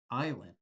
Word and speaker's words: island: But I don't want you to be confused because we pronounce this as island. We don't pronounce the s in island.